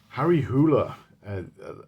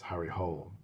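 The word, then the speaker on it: Harry Hole: Harry Hoola I heard the pronunciation from him as well. That's how it's pronounced in in Norway. I'd always pronounced it as Harry Hull but it turns out that he wanted um a Norwegian detective.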